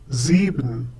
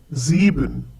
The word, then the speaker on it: sieben: and is followed by a vowel, it is pronounced as if it were the English Z. Similarly, in the next one, sieben. Once again, sieben.